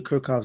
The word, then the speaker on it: Kirchhoff: need to use the kirov rules or kirov or kirov everybody has like a you know different way of pronouncing uh this name so I I go with kirkov so um so basically